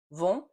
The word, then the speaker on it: vont: But if you don't hear the difference between vent, which is wind, vont, which is go, and vin, which is wine, and if you can't pronounce those correctly, you're probably having a hard